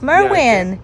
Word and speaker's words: Merwin: Merwin like mispronounced Merlin. Okay, got it. Mer Merwin like mispronouncing or like you got a little bit of a lisp. It's Merwin.